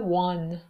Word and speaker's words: one: و زمانی که O صدای و میده مثل one, عدد یک, one. وی فارسی تلفظش نمی کنیم, V نیست. وی W یعنی لبها قنچه میشن.